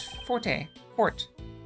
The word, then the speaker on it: forte: Officially, this word is pronounced fort. Fort. However, in the common vernacular, it's been pronounced as forte for so long, mispronounced, one might say, that the pronunciation has changed. So now both are acceptable.